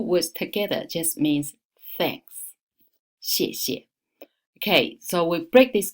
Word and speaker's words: 谢: So we take right hand side 射 as the pronunciation. So put these two together. 谢谢，谢谢 Thank you.